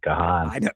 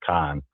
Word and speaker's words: Kahan: way before the break you pronounced it kahan and no and I I my my niece if you don't want jenzers to look at you like you're a complete idiot you got to pronounce it Khan that my niece corrected